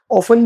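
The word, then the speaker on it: often: इसका दो प्रोनंसिएशन है। ठीक है? ऑफन भी कुछ लोग बोलते हैं इसको। ऑफन भी बोलते हैं। दोनों एकदम सही प्रोनंसिएशन है। ज्यादातर कंसीडर किया जाता है टी साइलेंट के साथ। लेकिन ऑफन भी आप सुनोगे कुछ नेटिव स्पीकर्स ऑफन बोल रहे हैं। सो ये दोनों प्रोनंसिएशन इसके बिल्कुल करेक्ट है।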